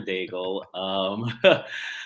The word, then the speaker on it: Daigle: And you pronounce it correctly. It is Dr. Daigle.